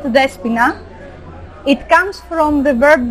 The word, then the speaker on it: Despoina: is not so usual the espina pronounce it despina it comes from the